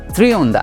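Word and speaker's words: Trionda: থ্রিওন্ডা যেটা একটা স্প্যানিশ শব্দ এবং এইটার আসল প্রোনাউন্সিয়েশন থ্রিওন্ডা এবং এটার তিন ধরনের কালার রয়েছে ব্লু স্টারস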